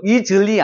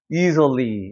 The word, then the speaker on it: easily: 여기 같은 것도 이즐리 아니에요. easily 이렇게 되는 거예요. easily. 그래서 여기 거의 뭐가 되는 거예요? 으 사운드로 넘어가요.